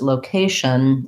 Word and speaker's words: location: focus on low versus location is more like vacation where the k is stressed in the second syllable um when you have